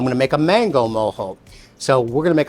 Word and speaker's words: mojo: being in Florida was moho I don't know something about the way it repeated itself in those sounds moho plus it was spelled Ojo or is spelled Ojo which of course in Chicago and blues that's Mojo and I was uh